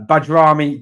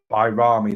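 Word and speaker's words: Bajrami: on that one uh badami definitely a number 10 role says Maize bami okay it's pronounced byamy there we go byamy that's the pronunciation thank you John thank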